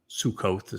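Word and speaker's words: Sukkah: The verbal root of Sukah, Sukkoth sometimes is how it's pronounced, but it's Sukah, is sakak.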